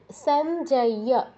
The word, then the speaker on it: সঞ্জয়: সঞ্জয় নয় সঞ্জয় সঞ্জয় সঞ্জয় বলবেন না সঞ্জয় ইয় টা স্পষ্ট করে বলতে হবে সঞ্জয় উবাচা অর্জুন উবাচ